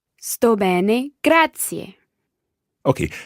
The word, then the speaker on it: grazie: a gratia gratia gratia there are three syllables there almost grad C a grad C a okay perfetto Grazia